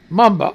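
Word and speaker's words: Mboma: How the hell do you pronounce MB? M-B-O-M-A. Mamba.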